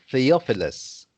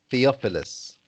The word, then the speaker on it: Theophilus: us This word, this name is pronounced Theophilus. Theophilus.